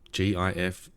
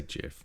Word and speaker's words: GIF: would you pronounce this, you would say GIF. You wouldn't say GIF, right? You don't think anyone actually cares. It's just one of those fun arguments. Exactly. Access denied. Like gift, minus the T.